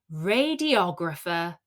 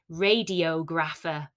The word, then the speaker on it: radiographer: Radiographer. Now be careful with this one. You might want to pronounce it radiographer or something similar, but it's pronounced Radiographer.